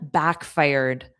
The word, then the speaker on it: backfired: Fired, e d. So, the pronunciation is just a soft d. Our plan backfired.